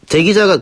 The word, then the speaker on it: 대기자: 근데 어느 건 뭐 길게 발음하면 되고 어느 건 짧게 예. 발음하면 된다 그러는데 둘 다 긴 발음입니다.